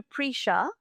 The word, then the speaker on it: Prisha: And every time I've spoken to Prisha, which now know that's the pronunciation of how I should say the name, she has spoken so much about you, Jeremy.